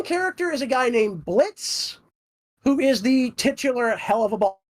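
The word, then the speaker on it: Blitzø: Yes, it's technically Blitz Buxo because the O is silent.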